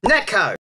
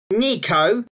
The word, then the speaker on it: neko: way they are, but this word should be Neko, not Niko.